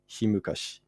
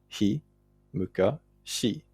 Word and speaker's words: ひむかし: like the Ise Monogatari, the word is written himukashi. This is representative of an even earlier pronunciation, though.